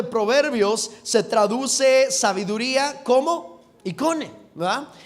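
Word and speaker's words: εἰκών: Icone. Icone, diga conmigo icone. Exactamente. Esta palabra de hecho más bien tiene el acento en la E, ¿verdad? En la O, icone.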